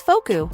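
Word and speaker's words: フォーク: In English it's fork, and in Japanese it's foku.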